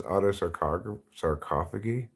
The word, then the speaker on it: autosarcophagy: No, I'm saying it wrong. It's autosarcophagy. Autosarcophagy?